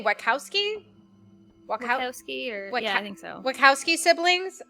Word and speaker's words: Wachowski: Wachowski I think so.